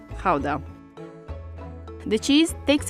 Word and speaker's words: Gouda: this one behind me depending on whether you're a native you will pronounce it either gouda or chowda so since we're talking about authentic dutch cheese we're going to call it hauda the cheese takes its